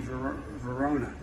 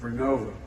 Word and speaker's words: Vernova: Arcosa makes wind towers that's going to go into turbines made by GE Verona. Excuse me, I mispronounced it. Vernova in Florida and New York.